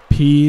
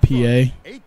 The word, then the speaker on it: Peay: least look at this P not PA I thought that's how the game pronounced it I think that's why I pronounced it like that Austin Peay it just feels weird because it has like the a y at the end of it so it's like no